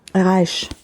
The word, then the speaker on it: Reich: Je suis perturbée parce qu'à chaque fois, je ne sais pas trop comment ça se prononce, Reich ou Reich. Reich. C'est Reich qu'on prononce.